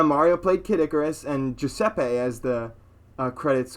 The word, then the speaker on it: Giuseppe: It's Italian. The G is pronounced G. Giuseppe, how to pronounce. Jason's about to get wrecked live. Giuseppe? Yeah, Giuseppe!